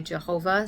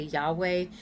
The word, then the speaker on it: Yahweh: And there's conjecture about how we pronounce those letters, Yod He Vav He. There's you know, some people say Jehovah, some people say Yahweh, some people say Yahuwah.